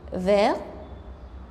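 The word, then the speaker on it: vert: عندي فير فيرت كمان بلو بتبقى بلو بضيف لها لتر أ لكن مش بيتغير نطقها.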